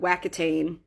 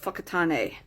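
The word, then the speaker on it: Whakatāne: "How do I get to the city called Wacotane?" And I got the funniest looks because it's not pronounced wac, it's pronounced fuckat.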